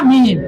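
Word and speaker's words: ميم: এখন মিম অক্ষরটি বানান করে মিমিয়া মিম, মিমিয়াদের, মিমিয়াদের। জেরের বাম পাশে যজমালা ইয়ে আছে, তাহলে টানতে হবে মিম।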